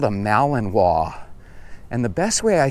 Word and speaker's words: Malinois: If you're familiar with the Malinois, it kind of looks like Malinois if you were to look at the name of it. But I believe it's pronounced Malinois.